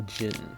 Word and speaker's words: djinn: Oblivious to my friend's warning, I opened it, and in doing so faced a powerful djinn. Djinn, just so you know, it's a silent D. D is silent.